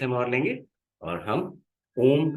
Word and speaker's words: ओम: चलिए, यहाँ से 30 सेकेंड्स हम और लेंगे और हम ओम का उच्चारण करेंगे। ओम के उच्चारण में अ, उ और म, तीन तरह की ध्वनियां उत्पन्न होती हैं।